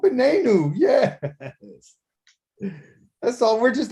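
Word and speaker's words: בננו: our son is new so how do you say sun our sun ben i knew there you go benenu yes that's all we're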